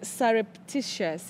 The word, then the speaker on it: surreptitious: I would spell it pronounce it as surreptitious.